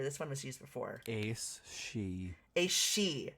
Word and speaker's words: Sidhe: She, not Sidhe.